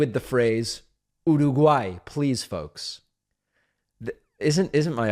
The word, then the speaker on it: Uruguay: of the flavor is Americans pronounce Uruguay in what seem like absurd ways you're a gay I found I mean